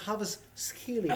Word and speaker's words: Kvaratskhelia: It's pronounced Kvaratskhelia.